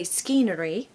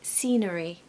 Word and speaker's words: scenery: on the wall so we're not going to say skenery we're going to say scenery scenery here we have